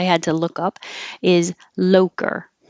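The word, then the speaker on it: Loacker: And the American pronunciation, which I had to look up, is Loker. So very different than the Italian pronunciation, I'm sure.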